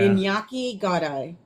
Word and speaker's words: Iñaki Godoy: Iñaki Godoy. That's how it's pronounced.